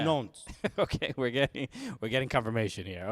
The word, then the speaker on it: Nantes: Wait, you do pronounce the T because before the E. So you say Nantes.